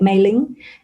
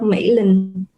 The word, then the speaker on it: Mỹ Linh: And I like my name, but it's just to foreigners, they usually pronounce this as a Chinese name, like Mei Ling, instead of Mỹ Linh.